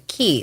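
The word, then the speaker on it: Cay: k c a white is pronounced like a key like a florida key walker's ah oh workers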